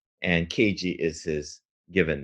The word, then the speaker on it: Keiji: And how do you pronounce the full name? Is it Keiji, or how Yeah, would you? Keiji. Right. So Keiji.